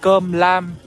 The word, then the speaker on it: cơm lam: So I'm just talking to the man, and this is what we call cơm lam. So let me spell it out for you.